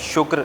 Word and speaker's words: شکر: شکر نہیں, شکر کاف ساکن ہے.